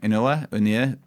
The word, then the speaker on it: Inoue: I always forget how to pronounce his name. Inoue.